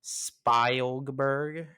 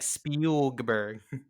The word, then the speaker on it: Spielberg: and also like he'll also mispronounce spy Olga Berg okay that one that one's worse than this one that's like Spielberg it sounds like a